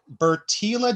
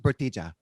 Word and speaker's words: Bertila: this ep episode are vaughn armstrong as lancer bertila damas as marika it's pronounced bertija yes as marika marika is also a nasty